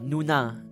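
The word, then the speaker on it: 누나: to say it Nona no not Nona Nuna Nuna Nuna yeah it's like old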